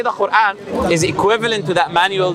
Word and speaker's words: Quran: – Quran There is an Arabic letter that will be hard to say, which is ق (Qaf). Quran. It would be hard to say because you don't have it